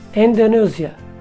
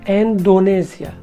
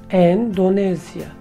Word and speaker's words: Endonezya: I realized that I pronounced wrong Indonesia. I said Indonesia, but the correct one should have been Indonesia. Indonesia.